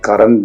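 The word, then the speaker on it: Courant: 1702 ൽ ലണ്ടനിൽ ഡെയിലി ക്വാറന്റ് എന്ന പേരിലാണ് ആരംഭിച്ചത് ക്വാറന്റ് എന്നുള്ളത് ഒരു സ്കോട്ടിഷ് ഉച്ചാരണമാണ് കറന്റ് എന്നാണ് വാക്ക് അപ്പൊ ഡെയിലി കറന്റ് അതിന്റെ സ്ഥാപക ഒരു സ്ത്രീയാണ്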